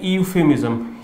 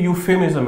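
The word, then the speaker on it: euphemism: देखो, ज्यादातर लोग इसको पढ़ते हैं ईयूफेमिज्म। ई यूफेमिज्म नहीं है, ये यूफेमिज्म है। इसमें ई साइलेंट है, इस बात का आपको ध्यान रखना।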